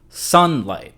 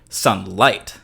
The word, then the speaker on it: sunlight: Normally, the stress or the accent on this word falls on the first syllable, sunlight. So if we were to set this word with the stress on the second syllable, say if it was crossing a bar line and light was hitting the downbeat, it would feel like sunlight, which is just not the way that word is pronounced in the actual language.